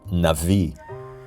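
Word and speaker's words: נביא: mean of course it's a Hebrew word pronounced Navi it doesn't mean one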